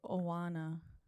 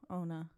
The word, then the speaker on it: Oana: No, Ona. It's in the notes, but I think Ona is more it's on it. It's spelled Oana, according to my closed captioning. I think she was saying it as Ona.